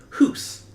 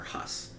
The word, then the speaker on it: Hus: he frees the spirit Hoos, I think is how you pronounce it, or Huss. Nah, I'd say more Hoos.